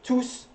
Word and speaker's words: tous: Okay, tous, when you do pronounce the S, it's a pronoun as well.